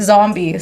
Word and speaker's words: Zumbie: I always get Zumbie and I'm like, don't focus on the U. It's not about the U. I mean, it is about the U, but as long as you follow, then you'll know to pronounce it Zombie.